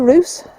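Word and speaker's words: Русе: In near Roos, about... Yeah, it's near Roos, but it's spelt P-Y-C-E, isn't it?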